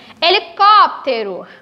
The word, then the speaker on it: helicóptero: Helicóptero, o acento é na sílaba có.